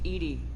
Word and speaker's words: EDI: airlock is a jar why are you named Ed Ed is the phonetic pronunciation of e that is an acronym for